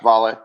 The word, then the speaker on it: Valle: I got concerned, JC, when your number 1 player, I think it's Valle, they pronounce it. Yeah, Valle.